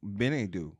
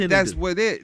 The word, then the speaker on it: Chinedu: Well, in Africa, you're Benedu. Chinedu. Chinedu. You know, I said it wrong. My apologies. Don't, it's all good. It's all good. Don't send the royal family after me. But Chinedu. That's it.